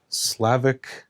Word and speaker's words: Slavich: 2 or something called Slavich photographic paper, smooth double weight fiber-based glossy paper, grade 3. And by a vote of 57%, you guys chose the Slavich. I believe it's pronounced Slavic.